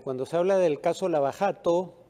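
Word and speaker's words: Lava Jato: se habla del caso la bajado o la barato porque así es como se pronuncia la jota en portugués el caso más sonado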